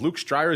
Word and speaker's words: Luuk Strijers: the program and indeed to the network is Luke stryer is the chief commercial officer over there at